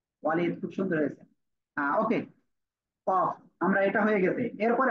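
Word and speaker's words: ك: জিহ্বার গোড়া থেকে একটু আগে বাড়িয়ে তারপর আবার উপরে তালুর সাথে লাগিয়ে পাতলা আওয়াজে কাফ, এই অক্ষরটি উচ্চারণ হবে।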